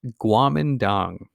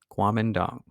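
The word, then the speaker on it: Kuomintang: party or this fun word right here it's pronounced Guam and dong qualm and dong now this was the government that was put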